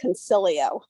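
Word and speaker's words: Consiglio: Today we are presenting Consiglo. Did I pronounce that correct? It's pronounced concilio. Okay, I'm using the Spanish version.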